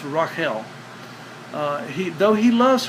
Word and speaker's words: Rachel: he loved Rachel uh pronounced correctly it's Rael uh he though he